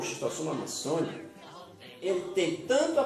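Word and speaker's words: Schistosoma: O agente causador é um verme chamado de xistossoma. Alguns professores pronunciam xistosoma.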